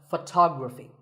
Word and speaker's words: photography: next word is photography we say photograph but photography so the first syllable becomes and the stress goes to the second syllable ography so photography in the same way